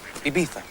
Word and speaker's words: Ibiza: Ibiza.